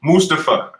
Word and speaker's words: Mustafa: Ali I believe right no it's Mustafa you gota say it right um and um who